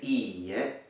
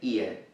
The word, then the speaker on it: iie: Note that there are two e. The e sound is double, and that's really important because it's a distinctive factor from other words. For example, if you only pronounce one E and you say ie, it means house, home. So you need to make sure that you fully pronounce the both E in this sound.